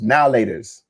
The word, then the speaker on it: Now and Later: I know it's spelled now and later, but no one ever pronounced it like that. It was now laters.